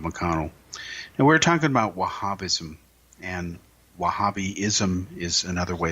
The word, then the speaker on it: Wahhabi: And we're talking about Wahhabism, and Wahhabism is another way of saying it. It is spelled W-A-H-H-A-B-I, Wahhabi.